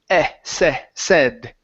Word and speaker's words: said: right here we have the word said it's a short e sound instead of s okay it's said okay and the last one